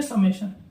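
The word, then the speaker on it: summation: अब कई बच्चे इसमें कंफ्यूज रहते हैं कि हम इसको भी क्या बोल देते हैं, सिग्मा बोल देते हैं, लेकिन अगर इसका सही प्रोनाउंसिएशन आपको पता है तो इसको हम पढ़ते हैं समेशन।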